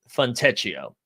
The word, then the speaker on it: Fontecchio: Grant Williams and Goodwin, who we've talked about both of their projections, and then Zubac and, as George pronounced, Fontecchio.